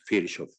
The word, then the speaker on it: Virchow: thanks to the fact that Lucy won the fishov price note how to pronounce fishov our area was recognized globally beyond our already